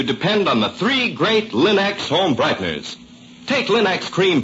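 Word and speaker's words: Linx: Remember, Linux is spelled L I N-X. Linux.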